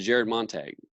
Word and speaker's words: Jared Montague: Jared Montague correct yes sir yes and I pronounced I said that correctly right you did